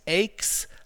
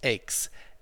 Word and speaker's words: aches: they've exercised a lot this word is pronounced aches like takes or makes okay so she takes her time she bakes bread he makes lunch okay so that's pronounced aches aches and becomes compressed